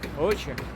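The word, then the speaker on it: oxe: It's pronounced Ocha.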